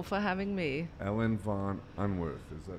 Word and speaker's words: von Unwerth: having me I went von Unwerth saying that ya English in German it's Ellen von Unwerth earlier but okay in